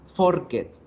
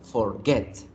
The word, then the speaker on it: forget: Fíjense que la pronunciación de forget, la fuerza se hace en la segunda sílaba. Yo no digo forget, digo forget, forget, forget.